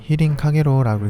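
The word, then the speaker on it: 飛輪陽炎: 일본어로는 히린 카게로라고 읽습니다.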